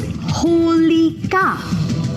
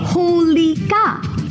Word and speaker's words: Holika: Oh, let's learn how to say her name. It's Holika. One more time, Holika.